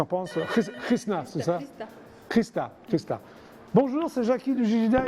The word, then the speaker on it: Hrista: Si en bulgare, parce que je sais bulgare, ça se prononce. D'accord. Christa. Oui. Mais en français, souvent on dit Rista.